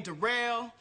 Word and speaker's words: Derell: yeah uh my name derell it's spelled like but it's pronounced derell uh yeah I just